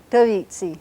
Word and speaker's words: tavitsi: In fact, it happens to be pronounced very much like a Spanish B, so if you speak